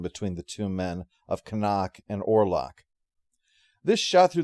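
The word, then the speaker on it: Knock: So Canuck, that's his name. In German, you're supposed to pronounce the K sound, apparently. Canuck calls in Hutter to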